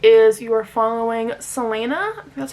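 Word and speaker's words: Celaena: I'm going to say is you are following Selena that's how you say her name and she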